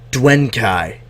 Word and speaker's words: Duenkhy: is a couch gonna welcome back to the duane kai dice i said it right oh my god